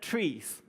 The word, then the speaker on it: trie: it gets interesting and horrifying because I said trees it's spelt trys right it's pronounced trees so this